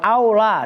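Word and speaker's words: الأولى: Bisa ula, bisa aula. Maka lihat siyakul kalam. Saya ulang seperti itu. Pasnya bagaimana bacanya ula apa aula? Kan gitu. Nah, kalau dibaca ula ribet. Makanya wal aula.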